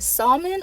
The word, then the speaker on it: salmon: s-a-w-m-a-n salmon is s-a-l-m-o-n is it salmon or salmon then it's not sam it's not neither one of them salmon salmon it's salmon it's not salmon okay braids or low-cut